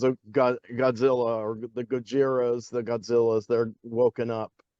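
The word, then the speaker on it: ゴジラ: they just kind of took the sort of the pronunciation of Gojira if you if you try to pronounce like an American would and that's Godzilla and it has Raymond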